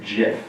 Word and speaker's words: Jif: peanut butter I prefer gift peanut butter love the gift he actually pronounced it Jif that's tragic he is smart enough to invent it but too dumb to pronounce it I think I know